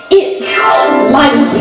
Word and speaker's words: Liza: I don't mind being humbled or trampled or trounced, but it does drive you past to be Liza, not Lisa with an S, cause Lisa with an S goes snuzz.